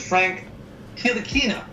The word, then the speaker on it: Frank Ntilikina: And I know for a fact that I'm going to butcher the pronunciation on this, but it's Frank Ntilikina.